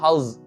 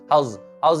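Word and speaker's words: how's: next देखिए, हाउ इसका contraction होगा हाउस, जेड की आपको आवाज आना है, जेड की प्रोनाउंसिएशन आपका लास्ट का जेड निकल, हाउस इट गोइंग, और अनकॉन्ट्रैक्शन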